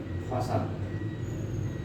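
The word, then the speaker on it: 버섯: पछाडि आउँदा सको उच्चारण स नै हुन्छ, झुन्डिएर आउँदा के हुन्छ त? त हुन्छ। त्यसपछि यसको उच्चारण के हुन्छ? फसद।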